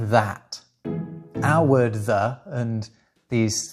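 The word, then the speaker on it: þæt: No, I mean literally, it's pronounced like that.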